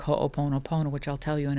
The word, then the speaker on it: Ho'oponopono: Ho'oponopono. I love Hawaiian language because it every single letter in the word is enunciated or pronounced.